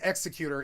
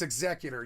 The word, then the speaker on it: Executor: It's not Executor, it's Executor. You got it fucking wrong.